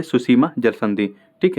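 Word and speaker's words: Tsushima: अगर पूछे आपको सुसीमा, तो इसकी भी स्पेलिंग टी से ही शुरू होती है।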